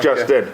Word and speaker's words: Lustin: Lustin. It's Justin with an it's Lustin with a J, apparently. What? Spelled Lustin, but it's pronounced Justin.